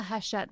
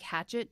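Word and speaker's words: Hachette: mention this so if you order from the haset website so it's pronounced tet but it's spelled like hatchet with two e's and an e haset um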